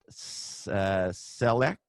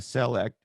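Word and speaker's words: Celect: you like they acquired a company called select i think is how you pronounce it c-e-l-e-c-t i guess that's how you'd pronounce it now okay great that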